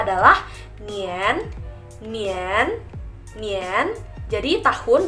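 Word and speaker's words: 年: mengenai tahun nah tahun ini dalam bahasa Mandarin dibacanya adalah nian nian nian jadi tahun dibacanya adalah nian di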